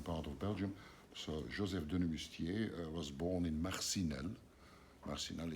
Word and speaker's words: Denemoustier: how it's like that pronounced in French because it's a French name, French-speaking part of Belgium. So Joseph Denemoustier was born in Marcinelle.